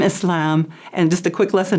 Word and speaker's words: Islam: we have so many different pronunciations, but the most correct is Islam and Muslim.